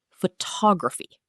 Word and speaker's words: photography: Photograph, stress on the first syllable. Photography, stress jumps to the second.